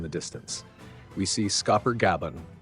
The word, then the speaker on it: Gaban: We see Scoffer Gaban, pronounced Gaban, who says the following open quote.